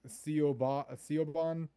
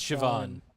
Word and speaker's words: Siobhan: It's uh I think it's like Seoban. Uh it's Siobhan. Oh, Siobhan.